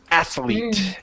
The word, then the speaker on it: athlete: it's going to come up wrong right so athlete athlete and I'm telling you a lot of